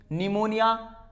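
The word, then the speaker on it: pneumonia: इफ P comes before N एस, अगर P आता है N और S के पहले तो P साइलेंट होता है।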